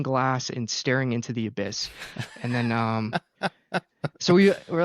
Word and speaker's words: Abyiss: Yeah, no, for context, our original name was Abyss, spelled with a Y, so it was Abyss.